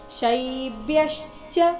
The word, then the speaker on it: ಶೈಬ್ಯಶ್ಚ: ಯ ಈ ಸಂಯುಕ್ತಾಕ್ಷರ ಬಂದಿದೆ ಶೈಬ್ಯಶ್ಚ ಅಲ್ಲಿ ಬ್ಯ ಮೇಲೆನು ಆಘಾತ ಬರಬೇಕು ಮುಂದೆ ಚ ಎಂಬ ಸಂಯುಕ್ತಾಕ್ಷರ ಬಂದ ಕಾರಣ ಶೈಬ್ಯಶ್ಚ ನರಪುಂಗವಹ ನರಪುಂಗವಹ ವ ನಂತರ